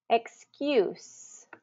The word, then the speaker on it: excuse: not Excuse excuse okay so this one is actually the U you excuse so it's saying you you that letter U or that sound U